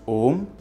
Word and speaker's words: Om: When it mixes with U, it becomes O. You can try these out for yourself as a fun exercise. So yes, it is pronounced Om when you are using praNava as a word.